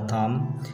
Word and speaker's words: thumb: Similarly, in the ending sound for the thumb, we hear M sound instead of B.